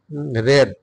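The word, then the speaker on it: read: রিড সে গল্প পড়ে রেড উচ্চারণ স্পেলিংটা ঠিকই আছে উচ্চারণটা হবে রেড শি রেড story say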